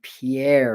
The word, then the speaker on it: Pierre: south dakota you know it's spell pierre but pronounced pier or or some reason